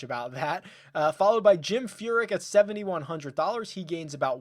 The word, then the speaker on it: Furyk: Followed by Jim Furyk at $7,100.